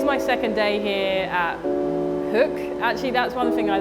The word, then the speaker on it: Hoek: So today's my second day here at Hoek. Actually, that's one thing I learned. I've been saying Hoek for months, and I just found out it's actually pronounced Hoek.